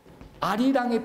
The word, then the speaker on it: 아리랑: 원래는 알리랑이에요. 알리랑. 근데 니을이 다음 음절의 첫소리로 발음돼서 아리랑 이렇게 된 거예요.